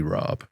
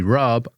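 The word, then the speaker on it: rabe: A little bit bitter also cuz I think I've only ever heard Americans say broccoli rob. Mhm. So, I didn't know it was actually called broccoli rub. I thought they were saying broccoli rob.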